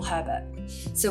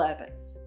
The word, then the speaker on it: Herberts: the grandkids little little herberts you've got to say it with like a little cockney accent and you don't pronounce the h so it's a little